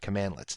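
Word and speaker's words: cmdlets: come with it now Powershell commands are built using commandlets so that's how you pronounce that commandlets and you'll see that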